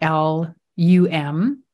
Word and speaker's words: lam: even though it's spelled L-A-M, the pronunciation is actually L-U-M.